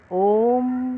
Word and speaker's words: ओम: ओम का उच्चारण में 3 ध्वनियाँ निकलती हैं, आ, उ, मा।